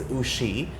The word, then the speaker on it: Uschi: It's Uschi, but it's spelled.